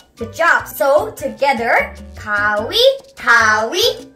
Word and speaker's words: 가위: It is pronounced as 가위. 가위.